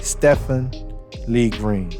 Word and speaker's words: Stephen Lee Green: say his name and say his name properly Stefan Lee green Lee green and we should be remembering that